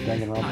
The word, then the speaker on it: Danganronpa: He's gonna be showing me pictures of Danganropa characters. I pronounced that right? I probably didn't. You're good. No, you got it right. Danganropa.